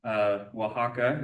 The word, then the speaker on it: Oaxaca: Oaxaca is how you pronounce that.